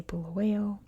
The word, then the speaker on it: Bulawayo: So I'm going to say Bulawayo. Just know that's how you pronounce it in English.